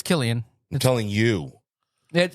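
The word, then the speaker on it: Cillian: amazing actor actually think about it it's not selan what' you say it's Killian telling you it it's properly pronounced Killian yeah for Oppenheimer yeah yes yeah just oh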